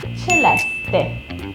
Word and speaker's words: Celeste: So I heard so many people call me Celeste, Celeste, Celeste, Cele, like that, Chile, or there's so many. I heard like so many pronunciations, but I just wanna say in this video the correct way of saying my name, which is Celeste.